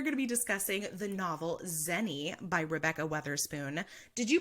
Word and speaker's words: Xeni: be discussing the novel zeni by Rebecca Wetherspoon did you pronounce it as any like when you were reading it yeah okay like Jenny but like with an axe but I also knew